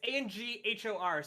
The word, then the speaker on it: Angkor: Is it Anger Wat? No, it's Anghor. So like, sort of, you could pronounce it like that.